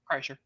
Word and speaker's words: Kreischer: I love that everybody mispronounces his name. It's Kreischer. Kreischer.